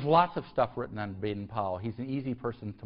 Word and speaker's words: Baden-Powell: So this is sort of shifting gears rather rapidly and talk about Robert Baden-Powell, it's the best way of pronouncing it, and the origins of the Boy Scouts.